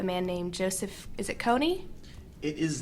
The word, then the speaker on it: Kony: hands of a man named Joseph, is it Kony? It is not Kony.